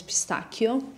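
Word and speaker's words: pistacchio: the thing is like the correct pronunciation in Italian is pistachio, so it's a very much of a thing.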